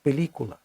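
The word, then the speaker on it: película: Звучить пелікула. Це третій склад з кінця обов'язково над буквою і наголос.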